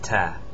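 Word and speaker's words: ت: This is Ta. It looks just like the B, as in it has a semicircle, but it has two dots on top, ta. It's pronounced just like the T in English.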